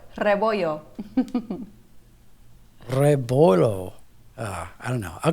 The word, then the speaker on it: Rebollo: Candice Rebollo. That's how you pronounce it, right? Rebollo. Oh, I got it completely wrong. Can you say that one more time? Yes, you got to roll the R, it's rebollo.